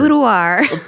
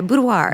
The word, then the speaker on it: boudoir: to like learn how to say that word budoir a budo am I saying it wrong no I think you're saying it right you well I'm just kind of smooth saying it budir yeah budoir budoir very good um so as I often